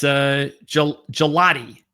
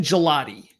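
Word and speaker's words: Gillotte: It's Gelati. Ashton Gelati. That's how you pronounce his name. Gelati. Ashton Gelati.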